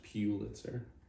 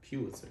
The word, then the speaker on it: Pulitzer: It's pronounced Pulitzer. Oh my God. It is. No, it's not. Pulitzer.